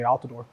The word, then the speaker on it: Altidor: podium please it's I'm sorry is it pronounced alador how do you pronounce your last name sir it's okay alador alador yeah okay and how do you pronounce